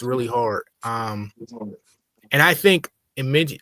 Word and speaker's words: Imogen: And I think Imogen, how you say that? All right, Imogen Poots. How you say it? Imogen Poots. Imogen. Sound like a camera.